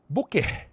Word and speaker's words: bokeh: The H is supposed to be silent, right?